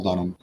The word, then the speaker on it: Dunnam: So it's spelled Dunnam, but pronounced Dunham, like Thomas.